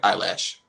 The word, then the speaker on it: Eilish: You said Billie Eilish, right? I just say it like eyelash. Okay, Billie Eyelash.